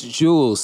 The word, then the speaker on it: J3W3LS: Right, so it's Official Jules now. Yeah, so it's Jules. So, like, Spotify, Google Play, Apple Music, all over the place. It's spelled the same way, J3W3LS.